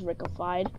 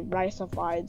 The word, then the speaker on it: Riceified: Oh yeah, I named myself because like everyone tried to spell it as Rickified or pronounce it as Rickified when it's actually Riceified, so that like the pictures.